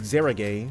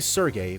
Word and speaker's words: Sergei: so they are pronouncing they were saying chief Zahra gay like Zahra gay something they were saying it they weren't saying Sergei basically oh that's on the